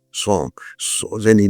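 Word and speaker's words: sans: And the last scene of all that ends this eventful history is then the French word s a ns. I think in French is pronounced song.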